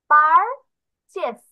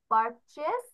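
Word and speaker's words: purchase: Pronunciation খেয়াল করো, পারচেস। পি ইউ আর, পার, পি ইউ R, teacher. পারচেস। সি এইচ এ এস E, chess, পারচেস, এটার অর্থ কেনা। তাহলে আই পারচেস A book, I বাই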